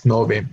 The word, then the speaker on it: nove: So instead of nueve, we pronounce it and we spell it out as nove, no 900.